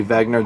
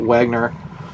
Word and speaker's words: Wenger: a battle between the I say Vagner the German pronunciation but Wagner Tara Graf they're dudes